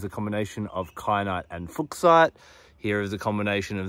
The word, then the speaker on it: Fuchsite: kenite zoite and although many people call it fusite it's actually pronounced fite anyway what you may notice is that you